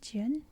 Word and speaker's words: jen: ye or righteousness and Jen says it's pronounced Jin meaning kindness and benevolence